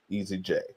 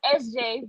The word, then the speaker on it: ESZJAY: Um it's actually pronounced SJ, but it's all good.